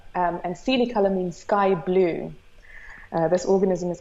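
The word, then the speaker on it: coelicolor: materials design and and at different scales it's pronounced Sealy color and Sealy color means sky-blue this organism is called progam streptomyces Sealy color and it is you know this beautiful blue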